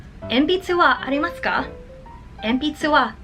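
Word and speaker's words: 鉛筆: Pencil in Japanese is enpitsu.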